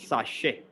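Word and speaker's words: sachet: pack of anything and t is silent here in the british pronunciation it is pronounced as sashi because in the british pronunciation the tea is silent it is sashay and let's scroll down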